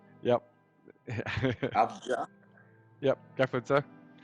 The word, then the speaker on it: Avdija: I don't know how to pronounce it. Avdija. Yep. Avdija.